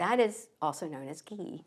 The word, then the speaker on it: ghee: to be talking about ghee it's spelled ghe e e and if you don't know what it is we're going to learn hello and hello hi so it rhymes with Glee yes right and I